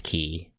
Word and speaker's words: chi: I think you're supposed to pronounce it as ki, but you know, like ki, but spelled chi.